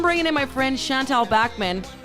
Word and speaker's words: Bachman: Oh, Shantelle, in the intro, lady, I said your name wrong again. I said Bachman, but it's Bachman.